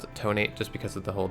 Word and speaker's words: Detonate: that's one way of describing what happened to tonight anyway it seemed to just was seriously wounded